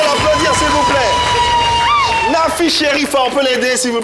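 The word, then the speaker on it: Cherifa: Nafi Sherifa. Oui. Ouais, Sherifa, ça s'écrit.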